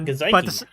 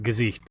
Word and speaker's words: Gesicht: So I was like, how do you pronounce this name? And she was like, Gesicht. I was like, okay. Yeah, no, that sounds right.